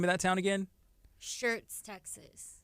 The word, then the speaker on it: Schertz: Shirts, Texas. It's Shirts? It's called Shirts, Texas. It's like SCHERTZ, but yeah, Okay, you okay. say it like Shirts. Like a shirt.